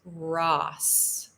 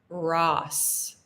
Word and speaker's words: Ross: So with the O, it's Ross, Ross. And with the U, it's Russ, Russ. It's an That's a very American English sound.